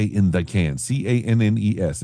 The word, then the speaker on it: Cannes: I didn't say in the Cannes, c a n n e s. It's pronounced Cannes.